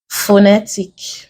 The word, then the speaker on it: phonetic: Another question we have, phonetic, affection, relegate, election. Here the stress is on the second syllable. Word is ending with IC.